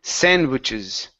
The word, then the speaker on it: sandwiches: next is the word sandwiches right here so the stresses at the beginning make sure to pronounce that es okay so and sentes